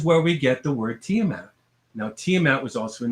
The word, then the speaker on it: Tiamat: here and that literally is how you say tiamat yes and the reason why we're saying it's